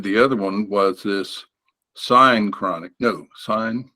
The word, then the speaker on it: synchronic: And then you said the other one was this synchronic. No, how do you pronounce that again?